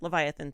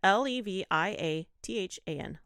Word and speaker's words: Leviathan: me Leviathan oh did I do it yeah Leviathan Stitch yeah l-e-v-i-a-t-h-a-n Leviathan yeah why did I say it like